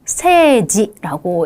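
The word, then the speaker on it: 政治: 정치도 세지라고 읽죠.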